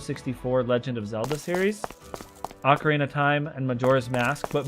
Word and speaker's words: Ocarina: as a side note I used to pronounce as orc Arena until about a year ago when I finally noticed there was not an r in the title of that game um I don't know